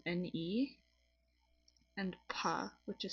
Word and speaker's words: pas: So in pa, the S is silent. I think I explained this in one of my other videos, but the S is completely silent. Like we don't say it. The S is irrelevant.